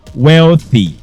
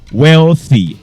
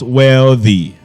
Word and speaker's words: wealthy: queen that word is wealthy wealthy not wealthy okay it is voiceless voiceless Dental fricative all right so take